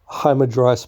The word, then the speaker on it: Hamadryas: Oh my goodness, let's look that up so I don't pronounce it wrong. It's here we go. Hamadryas baboon.